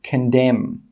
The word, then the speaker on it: condemn: The letter N is normally silent when it comes after the letter M at the end of a word. For example, condemn.